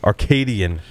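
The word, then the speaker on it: Arcadyan: Arcadian. It's spelled weird.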